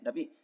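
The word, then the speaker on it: ت: Jadi cara mengucapannya bagaimana? Caranya ya dengan menyentuhkan ujung lidah ke bagian belakang pangkal gigi seri atas.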